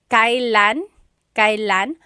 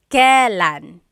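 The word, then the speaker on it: kailan: It's pronounced kylan kylan but you will often hear it pronounced kalan.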